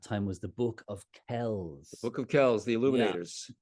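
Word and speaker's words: Kells: image from that time was the book of Kels book of Kels the illuminators k l LS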